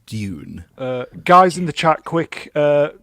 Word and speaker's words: Dune: it's a hardware because if you do it lazily, it sounds like June the month. So if you want to be incredibly posh, it's Dune.